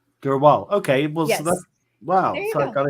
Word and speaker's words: Drwal: future uh my full name how do you pronounce your your last name last name dur wall Dural okay wow so I got it in one